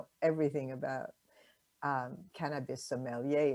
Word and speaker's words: sommelier: true i admit that the term sommelier or sommelier as the correct as you correctly pronounce it is a bit